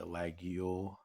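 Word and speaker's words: Laguiole: clip point blade that's reminiscent of like the lagule that's how you pronounce that lag yield blades very similar to those or like if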